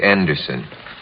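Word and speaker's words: Andersson: anderson has joined us that's not the correct pronunciation of your name in this country is it baby say it again i say anderson have you been listening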